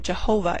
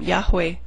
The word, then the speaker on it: Yahweh: the name should sound the majority of Scholars do agree that the name Jehovah is an impossible pronunciation of it particularly since the sound Jade does not exist in Hebrew Scholars have agreed to